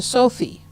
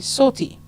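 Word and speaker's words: Sothy: it's spelled s-o-t-h-y and he'll answer to sophie but it's actually salty so oh jones is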